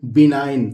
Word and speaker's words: benign: और ये लिखा है BENIGN, जिसमें जी दोस्तों साइलेंट है। इसको हम पढ़ेंगे बिनाइन।